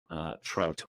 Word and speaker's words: trait: So the first dimension is what we call trait, or trait, if you're pronouncing it properly, TRAIT, a characteristic.